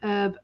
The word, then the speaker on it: Herb: so this this is herb with a an h that you pronounce herb albert and the t that